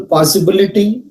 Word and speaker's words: possibility: Take the example possibility. Before the word possibility, pa takes before pa. We use secondary stress. Before ba syllable, the second syllable, we use primary stress.